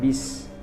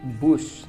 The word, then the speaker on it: bus: hai Hai selanjutnya kata bis sering kita berkomunikasi atau tanya jawab melontarkan kata bis Saya berangkat akan menggunakan misna kata bisnis di sini itu kata tidak baku salah pengucapannya Seharusnya saya pergi menggunakan bus Nah itu kalimat yang